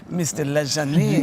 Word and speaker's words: LaJaunie: Oh my gosh, it's funny, we were talking about your name is LaJaunie, is how you pronounce it. LaJaunie. But whenever you're around French people, they go, Mr. LaJaunie.